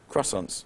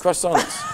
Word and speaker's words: croissants: Croissants. Oh, croissants. Croissants. Croissants. Like, is that new? Crescents? No, it's like the proper English way of pronouncing it, croissants.